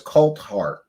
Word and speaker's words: Coulthart: Coltart. Yes, his name is Coltart.